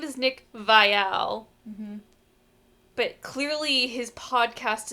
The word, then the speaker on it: Viall: And so every time, like, I just feel like I'm shaken to my core every time I'm reminded that his name is actually pronounced Viall.